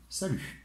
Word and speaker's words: salut: And how would you say, to say goodbye, in informal, we also say salut. Do not pronounce the T.